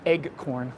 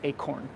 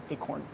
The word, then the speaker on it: acorn: is an acorn motif someone once made fun of the way I say that like I was saying egg corn like it's a fried egg um so I try to pronounce the hard C acorn acorn I don't know maybe